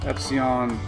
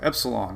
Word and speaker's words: Epsilon: Epsilon. Oh, there's an L in it.